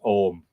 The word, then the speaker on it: Ogham: earth there is an Ogham, Ogom, but it is generally pronounced Om.